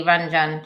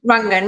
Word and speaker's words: Rangan: And what I was thinking about when you were talking about, I was, maybe I pronounced it wrongly, Ranjan Chatterjee, but yeah, Rangan, yeah.